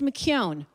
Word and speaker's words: McKeown: And yes, it's McKeown, rhymes with phone.